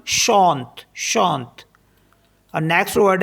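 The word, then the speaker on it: chante: word है हमारे पास सी एच ए एन टी ई इसमें भी ई लास्ट में है तो यह भी साइलेंट हो जाएगा तो इसको पढ़ते हम शांत शांत और नेक्स्ट वर्ड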